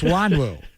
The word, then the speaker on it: Nwangwu: Wanwu. Yeah, they're Wanwu easy. from NWANGWU, and you get Wanwu from that? Yeah, the N is silent.